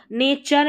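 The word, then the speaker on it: nature: नेचर में है। टी यू आर ई ये पैटर्न रहता है। और यहां पर ये जो टी यू रहता है ना इसको च पढ़ा जाता है।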